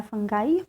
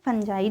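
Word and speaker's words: fungi: ये ध्यान रखना है, फंगाई फंजाई, जो आपको प्रोनाउंसिएशन सही लगे आप कह सकते हैं।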